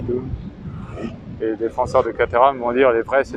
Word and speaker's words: Caterham: Après, on a des Caterham, des K-Firm, si on la prononce à l'anglaise.